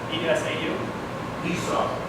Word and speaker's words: Esau: Is it pronounced Esau? E-S-A-U? Esau, okay. Esau.